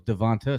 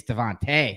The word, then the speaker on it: DeVonta: Is it Devontae Smith? I could have swore it was Devonta Smith. It's Devonta Smith. Yeah, someone was like, it's Devontae. It's Devonta.